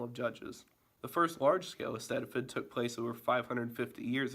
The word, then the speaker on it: Eisteddfod: The Eisteddfod, in Welsh pronounced Eisteddfod, dates back nearly 900 years.